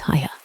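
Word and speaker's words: Haigha: His name is Hiya." He pronounced it so as to rhyme with mayor.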